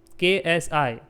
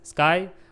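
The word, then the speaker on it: ξ: this symbol this is KSI you can say it as sky okay or s generally k is silent we say it as s but it is ksi Nevertheless, you can take any symbol you want.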